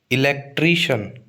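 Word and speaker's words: electrician: इलेक्ट्रिशियन। इलेक्ट्रिशियन इलेक्ट्रिशियन। ठीक है? तो शन और ट्री ठीक है आप स्पेलिंग देख लो सी आई एन शन बोल रहे हैं तो टी आर आई पे स्ट्रेस आएगा इलेक्ट्रिशियन मैजिशियन मैजिशियन ठीक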